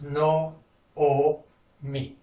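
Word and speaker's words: נעמי: So it's no, o, me.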